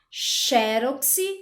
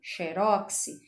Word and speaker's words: xerox: hieróglifo então pode ser pronunciada xerox ou xérox é um são palavras